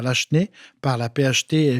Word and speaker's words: Lachenaie: Il y a un projet d'un nouveau circuit patrimonial relié à Lachenay par la PHT et la ville de Terrebonne, parce que Lachenay est rattaché à la ville de Terrebonne.